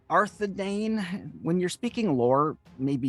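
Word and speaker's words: Arthedain: Province second only to the king's land of arthane arthadane when you're speaking lore maybe you should know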